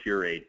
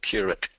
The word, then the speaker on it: curate: Yeah, our sloppy language here, we don't pronounce the member of the clergy any different than the word curate. We pronounce it the same both ways. So it's a curate, yes.